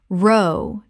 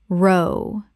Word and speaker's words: row: Word 250, row, argument versus row, to paddle. Row, the argument, British English. Row, rhymes with cow. Row, to paddle a boat. Row, rhymes with go.